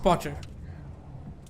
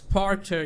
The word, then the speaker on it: Porter: Potter. Not Potter. Porter. It's a bit difficult to pronounce it because it's Porter. You need to concentrate on the R.